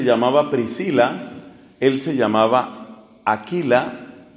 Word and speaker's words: Aquila: Estamos en un retiro de parejas, y fue una pareja, ella se llamaba Priscila, él se llamaba Aquila, se pronuncia mejor Áquila, las dos las he visto.